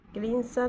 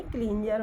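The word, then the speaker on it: cleanser: जो आवाज़ निकाला है, जर, क्लींसर नहीं क्लींजर होगा ये, इसलिए तो इसको इस तरीके से लिखेंगे, क्लीन जेड। ये वर्ड है, इसका स्पेलिंग है CLEAN SER, क्लींजर। Okay, fencer word है, फेन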